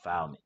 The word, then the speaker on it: Philemon: Oh, Philemon. Philemon. What's wrong with you? Philemon. That's how you pronounce it, but you know.